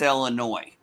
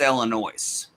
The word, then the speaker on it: Illinois: northern illinoisian uh it's illinois if you're like me a southern midwestern illinoisian like i am who grew up near saint louis it's illinois the s is not silent uh to us everybody tells us the